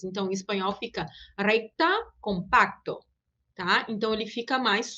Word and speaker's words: compacto: Esse C a gente vai pronunciar mais suave do que seria em português. Então, em espanhol fica recta, compacto, tá?